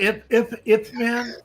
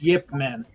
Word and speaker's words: Ip Man: No, are you talking about Ip Man? Yes. Yeah. yeah, it's Yeah. actually pronounced Yip Man.